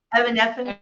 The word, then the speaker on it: Evanescence: like you saying you getting into, like an Evanescence. Did I say her name right? Evanescence. Yeah. Thank you. I've been saying that name wrong my whole life.